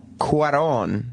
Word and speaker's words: Cuarón: Eric Weber of NECN writes, as Cuarón, that's how you say his name, the director, as Cuarón spells out in his intro, life in space is impossible.